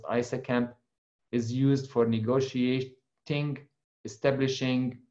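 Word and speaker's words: ISAKMP: Internet Security Association and Key Management Protocol, it's pronounced ISACAMP, is used for negotiating, establishing, modification, and deletion of security association between the two ends of that tunnel.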